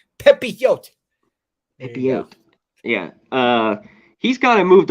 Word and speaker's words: Pepiot: Apparently, you gotta say it like you're a bird chirping, Connor, according to Jimmy Gomez. Pepiote.